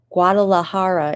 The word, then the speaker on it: Guadalajara: I know that Guadalajara is pronounced that.